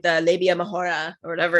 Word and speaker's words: majora: So majora. That's fun. Yeah. It's a little more fun to say. It's got a little more like to it. Yeah. Roll your R.